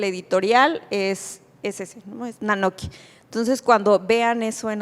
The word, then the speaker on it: Nanoky: cómo definirlo, una serpiente, es la sílaba na. Y na es el posesivo. Entonces, nok es una de las formas antiguas para decir papel, pero también significa libro, documento. Entonces, quiere decir nuestros libros.